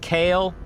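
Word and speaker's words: Kailh: You got Kale, and it's not spelled like Kale, it's like K-A-I-H-L or something.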